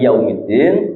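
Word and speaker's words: يوم الدين: teman jadi maliki yaumiddin mimnya harus panjang yaumiddin di huruf dalnya Ada tasjid juga, maka harus ditekan. Iya.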